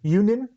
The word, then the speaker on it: Ewenin: Today I'm joined by Yep, Ewenin. Yep. Ewenin.